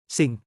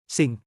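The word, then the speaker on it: สิ่ง: ส ิ ่ ง Pronounce it like. ส ิ ่ ง Exactly like the English word for singing a song, this is your more sophisticated, formal cousin of.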